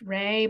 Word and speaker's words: Ra: So it might be pronounced Ray, but nobody pronounces it that way, even though I think it's supposed to be pronounced Ray, but we call it Raw.